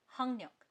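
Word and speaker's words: 학력: तो इसको हम लोग लिखेंगे हमेशा हक लयक लेकिन हम लोग इसको प्रोनाउंस करेंगे हंगक। हक्यक बोलना थोड़ा मुश्किल है इसलिए प्रोनाउंसिएशन आसान करके वो हो जाता है हंगक।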